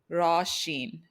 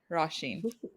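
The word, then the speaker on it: Rashin: I'll tell you guys the right way you pronounce it actually so this is the way you would say it like in the mother tongue ra sheen raash sheen it's like raw and then Sheen yeah but the white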